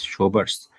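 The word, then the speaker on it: Schober: is called showers test this pronunciation is showers showers test so this is the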